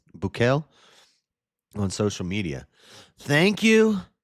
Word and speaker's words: Bukele: Bukele, on social media. Thank you to El Salvador and, in particular, President Bukele.